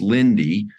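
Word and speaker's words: Linde: one of our joint and your partners is Lindy Lindy is spelled l-i-n-d-e they're 170 180 billion dollar market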